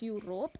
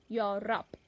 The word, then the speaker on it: Europe: across Europe so please pay attention to the pronunciation of this particular continent it is not you rope it is your rap your rap second one is coalition is a